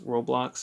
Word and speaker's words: Roblox: Roblox is how you pronounce that word.